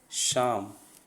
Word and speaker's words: psalm: Next word है शाम। P silent है यहाँ पे, PSALM, शाम।